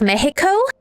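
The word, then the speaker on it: México: So like you know my guess is based on like because uh you don't right like Mexico is pronounced Mexico right X is as a kind of H sound but it very well might not be based on like uh Mexican Spanish.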